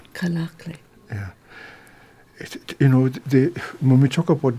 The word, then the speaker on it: Kalaallit: And I can't say how do you pronounce the tribe? Kalaallit. Kalaallit.